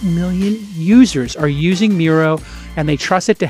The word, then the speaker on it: Miro: other important information directly into Miro and that's Mir oh but it's pronounced Miro and you get in there and